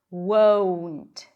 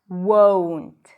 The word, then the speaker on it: won't: won't. I always talk about this word because if you don't get to the W sound, if you don't pronounce the diff thong, it's going to sound like want.